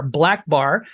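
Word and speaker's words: BLK Bar: um black bar um it's spelled BLK B- a r black bar uh black bar is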